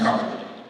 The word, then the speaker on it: Kearney: It's pronounced Carter.